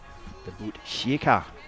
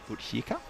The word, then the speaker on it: Botkyrka: It's at the Botkyrka, as it's pronounced, Botkyrka. Thank you, Sandu, for the pronunciation tips on that one.